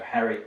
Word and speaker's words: Harry: So we'd have Harry Potter and you'd have Gary Potter, which sounds quite unusual in English, because in English we also have this name with the G, Gary.